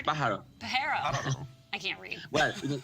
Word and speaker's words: pájaro: Pahard? It's pájaro.